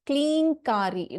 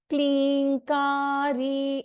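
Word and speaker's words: क्लीङ्कारी: So again, for the benefit of all, So here it is Klinkari. There is no anuswara is not there. Klinkari is the right pronunciation.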